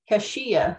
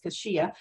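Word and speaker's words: cassia: specifically hashia cinnamon and I put the pronunciation because I'm like how do you spell that I was pronouncing it wrong so I looked it up for the phonetic pronunciation there is kashia cinnamon specifically is sold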